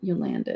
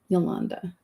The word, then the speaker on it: Yolanda: and it's like, well, it's not Yolanda, it's Yolanda. I know it sounds weird, but phonetically it's Yolanda.